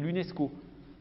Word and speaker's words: UNESCO: simplement que l'acronyme c'est un sigle qui se prononce voyez vous dis pas une vie pas le nsc haut on dit l'unesco en revanche on dit la ratp nous dit